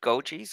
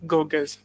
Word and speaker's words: Goges: Is it Gojis? Goges? It's Goges. Goges. Yes.